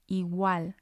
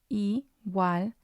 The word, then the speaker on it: igual: We have another example here, igual, igual. It means equal. So again, we have 2 syllables here, igual, and we're going to stress the A on igual, igual.